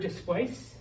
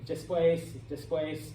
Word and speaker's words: después: So you would put, you know, después. The word después always has an accent on the E.